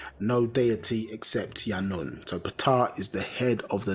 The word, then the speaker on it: Ptah: But it's actually Ptah, yeah, the opener, and